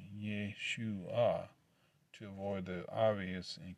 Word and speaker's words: Yeshua: Yeshua, pronounced Yeshua, to avoid the obvious and convicting parallel.